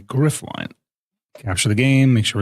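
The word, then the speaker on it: Gryphline: So, this this stream segment is sponsored is presented by Graphline or sorry, let me say their name correctly. No, I did say it right. Griff line. Sorry. Griff line.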